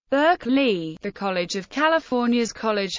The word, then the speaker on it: Berkeley: Philosopher's name is pronounced barkle the pronunciation of the city's name has evolved to suit American englishes Burke Lee the College of California's